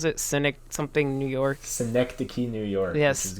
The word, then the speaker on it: Synecdoche: How do you pronounce it? Cynic something New York. Synecdoche, New York, Yes.